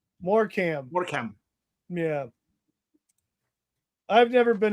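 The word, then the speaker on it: Morecambe: It's pronounced Morecam.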